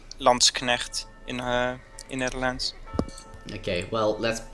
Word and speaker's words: Landsknecht: Just the problem with Lanschkenet is, which apparently I'm saying not correctly, is they're slow moving.